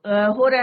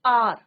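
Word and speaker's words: hour: क्या होता है बच एच क्या होता है साइलेंट होता है ववर नहीं बोलते इसको कई बार बच्चे बोलते बोलते हैं बट इट्स नॉट हार इट इज आर क्या बोलते हैं इसको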